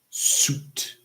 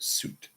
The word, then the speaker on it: suit: It is suit. So just suit. So suit, sweet. Suit, sweet. Suit, sweet. Okay?